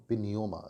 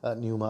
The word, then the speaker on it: pneuma: पिन्यूमा spelling है PNEUMA, पिन्यूमा। न्यूमा भी कहते हैं, पिन्यूमा भी कहते हैं, और उसका नंबर है 4151।